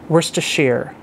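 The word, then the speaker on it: Worcestershire: is the proper pronunciation it's words to share why would you spell something like that if it's pronounced like where's the share w.o the worst sister shire worse to share i don't know but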